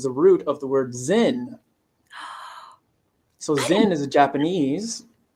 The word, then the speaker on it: Zen: root of the word zen so Zen is a Japanese and that's a Japanese pronunciation of the Chinese word chan or Chana which is